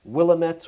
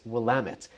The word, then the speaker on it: Willamette: right through Corvallis, and this is the beautiful Willamette River, which is why we are in the Willamette Valley. So the common mispronunciation here is people will say like Willamette or Williamette or whatever, but it's Willamette.